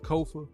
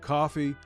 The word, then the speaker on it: Kofa: I'm your host, Kofa, Kofa, not coffee, not, not Kofi, or any variation thereof. Kofa rhymes with sofa, easy to say, easy to spell.